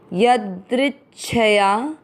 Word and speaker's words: यदृच्छया: य द्रि का अर्थ हुआ द आधा और नीचे री से ऋषि की मात्रा। द्रि के साथ आधा च दृच छ पूरा छया यदृच्छया।